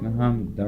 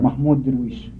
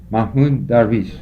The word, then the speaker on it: Mahmoud Darwish: How do you pronounce his name? It's Muhammad Darwish. Mahmoud Darwish. Mahmoud Darwish.